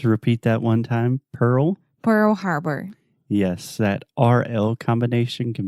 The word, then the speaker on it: Pearl Harbor: what I know about Pierre Haber okay one more time Harbor Pearl Pearl Harbor sounded like you're trying